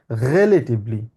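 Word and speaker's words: relativ: বলি রিলেটিভলি বলি না উনি বলতে হচ্ছে এটাকে রিলেটিভলি মানে এটাকে আরকে একদম গলা থেকে এনে বলতে রিলেটিভলি সে উনি বলতে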